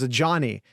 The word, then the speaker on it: Ajani: name for the record I looked up how to pronounce before we started it is a Johnny a Johnny Cornelius uh he does have